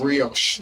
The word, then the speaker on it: brioche: How you pronounce it? Brioche.